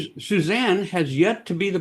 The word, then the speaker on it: Susanne: So anytime Suzanne's on something giving her website and she says, "Hey, it's Suzanne's bureau."